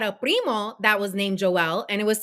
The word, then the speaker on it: Joel: whole trading desk could hear it it said Joelle j-o-e-l and it said where the name was